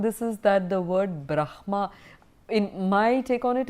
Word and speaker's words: brahma: important interesting word so traditionally the word brahma is pronounced as the Brahm ha also in tradition he